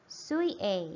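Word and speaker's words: 水泳: Kemudian lagi mizu, ditambah ini bacanya suie ya.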